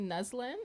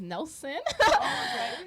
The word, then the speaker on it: Neslin: very complicated experience growing up because nobody can pronounce it like just by reading it. They would actually like read it as Nelson, like Nelson.